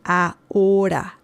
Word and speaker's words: ahora: So, si salimos, if we leave, ahora, remember the H sound in Spanish is mute. We do not say it. There is no sound. The letter H has no sound in Spanish. So the pronunciation of this is ahora. Okay, it's not ahora. No, it's ahora.